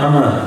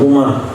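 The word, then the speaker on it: عمرو: Nah, di sini kalau ketemu wau itu berarti bacanya Amar, jangan Umar.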